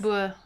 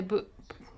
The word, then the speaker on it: Boer: Boer is, in England you say Boer. We say, in Afrikaans it's pronounced Boer. In England you tend to say Boer or Boer. It's a very different pronunciation, but it means farmer.